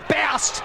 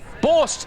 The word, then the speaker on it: Borst: Borst. Sorry. Borst. The stats men aren't happy with the pronunciation, Dave. This is tragic. We should... it's Borst. Okay, it's definitely Borst.